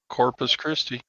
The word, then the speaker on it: Corpus Christi: Corpus Christi.